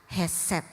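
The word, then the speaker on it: khesed: diterjemahkan dalam bahasa Ibrani k h e s e d dibacanya adalah heset dan dalam bahasa Yunani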